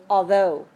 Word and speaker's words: although: H the GH right the gh gh in English is very strange sometimes we don't pronounce it at all as in the word although we have another word